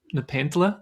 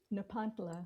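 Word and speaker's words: Nepantla: was hitting me in this season was that Nepanta, did I say it right? Nepantula.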